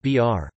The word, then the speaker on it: bir: A common example is the Kazakh word for one, bir, pronounced br.